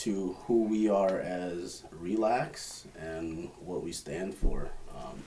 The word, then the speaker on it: ReLax: name bro yeah so our name um it's pronounced uh relax right yeah yes so the part re of